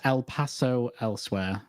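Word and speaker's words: El Paso, Elsewhere: How do you pronounce that one? It's El Paso Elsewhere.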